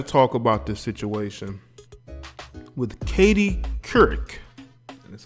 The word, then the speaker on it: Couric: I got to talk about this situation with Couric.